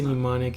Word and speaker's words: mnemonic: I want to say mnemonic is.